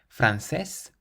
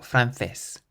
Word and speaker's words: francés: And with this last word, you can either say francés, francés, or francés, francés.